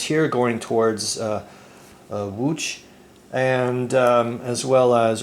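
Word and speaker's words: Łódź: right uh wooch uh the city of wooch I think is pronounced uh in Polish I hope to God I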